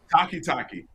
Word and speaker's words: Takitaki: do you say his last name played well takitaki I thought they played very well yeah and